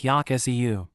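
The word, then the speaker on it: อยากซื้อ: อ ย า ก ซ ื ้ อ Want to buy, sounds like Yak Seu.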